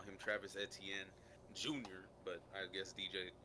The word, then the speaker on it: Etienne: Okay, for the people that don't know, Travis Etienne, he was pronouncing his last name at his introductory press conference, and he said Etienne.